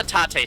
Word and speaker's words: Taté: Oh, hi I've used the Tate technique on five enemies. Is it It's the Taté technique, isn't it? Did I do the thing where I pronounced Taté as Tate again?